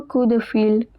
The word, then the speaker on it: coup de fil: Next sentence, passe-moi un coup de fil. P at the end is silent.